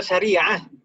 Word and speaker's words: syariah: Bacanya gimana, Burhan? Syar'iyah atau syariah? Syariah, bukan syar'iyah. Hasana, hasani.